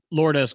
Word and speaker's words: Lourdes: How do you pronounce his first name? Lourdes Gurriel Jr.